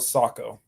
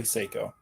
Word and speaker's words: Sako: oh nice do you pronounce it do you pronounce it Seiko or Sako I now call it Sako I used to say Seiko yeah it's a Finnish brand right so they